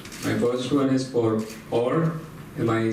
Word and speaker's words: Orr: My first one is for Orr.